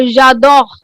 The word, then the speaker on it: j'adore: So we'll pronounce this je. Je Jo. adore. Yes, je adore. But since there दोनों ही vowel हैं, we'll हम remove We'll कर cut देंगे e को. हाँ, we'll remove the e and then we'll put an apostrophe and this becomes your j'adore.